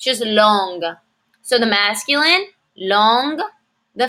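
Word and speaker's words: longue: in writing so long long the feminine form we add a u and an e but we don't say them it doesn't turn into longu it's just long so the masculine long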